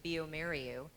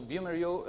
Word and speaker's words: bioMérieux: Now, Antonio, not everyone in the room is probably as familiar with bioMérieux, and some of us may not have known how to pronounce it until today.